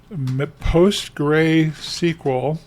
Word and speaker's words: PostgreSQL: for what is called the post gray SQL post gray pronounced like g r a y SQL so what we're looking